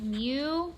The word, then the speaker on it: mu: mean statistic and the next notation is called new that's how you pronounce it and that is the population mean